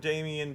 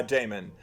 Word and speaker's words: Damon: to let her and Damien date was racist, and I'm like, yeah. I think his name is pronounced Damon. Yeah, Damon. Like they should have and